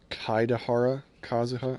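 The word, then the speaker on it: Kaedehara Kazuha: I've been saying his name wrong this whole time. It's Kaidahara Kazuha.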